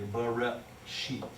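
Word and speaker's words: בראשית: I know that doesn't make sense in English, but the word is actually Bereshit. It's a glottal stop, and we just don't do that in English.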